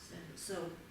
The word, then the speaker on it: གསལ: Потому что есть предписная га, Так, и есть приписная ла. ла. Она точно у нас не постприписная? Нет, она не может быть второй приписной. Понятно. И как это будет читаться? Сел.